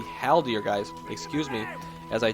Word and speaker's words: Haldir: His Hawaldir is in the back here, attempting, or not Hawaldir, gosh, I've been saying it wrong the whole time, but it is going to be Haldir, guys, excuse me, as I do sometimes mix up those names.